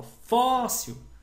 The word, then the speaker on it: fóssil: Agora, quando eu falo fóssil, o fó é o mais forte, é uma paroxítona, tá bom?